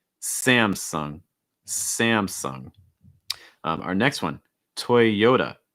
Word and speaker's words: Toyota: next one toy yoda stressing that second syllable the yo toyota notice that that t takes on a fast d sound so it's not it's usually more duh toy yoda toy yoda also note that y sound the strong ya toya